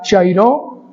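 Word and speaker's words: χαίρω: carta a los Filipenses esta palabra griega chairó lleva tilde en la o muy bien hermanos creo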